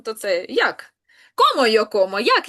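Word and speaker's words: cómo: Це я їм йо комо. Угу. А якщо у нас з наголосом? Комо теж комо. Бачите, тут навіть не змінилася вимова. Воно і так туди падає за правилом.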